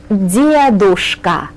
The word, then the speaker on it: дедушка: Well, if you have babushka, then you also have dedushka, grandfather. Dedushka. Babushka и dedushka, grandfather. Dedushka. Again, we place the accent right here on this syllable.